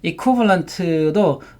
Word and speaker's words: equivalent: T가 안 들리죠? equivalent.